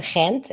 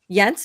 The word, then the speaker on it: Gent: or what didn't you went to Kent as well? I I did but I went all over. We went to Antwor Brussels Gent Yent is how is that is that how it's pronounced?